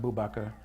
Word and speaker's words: Abu Bakr: Africa are Bilal and Abu Bakr. And I have been taught that the name Abu Bakr, and it's pronounced Bubakar, or like the sheikh in Babakir, that the reason why